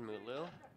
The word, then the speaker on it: Mutlu: It is Mutlu. I have been corrected. Thank you, Andrew. So I have been pronouncing it right.